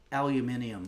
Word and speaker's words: aluminium: And uh the correct way to say it is aluminium foil.